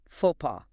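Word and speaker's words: faux pas: Both the X and the S are silent. It literally translates to false step and we pronounce it fauxpaw. Trying to sound out any of those final letters is a guaranteed social blunder.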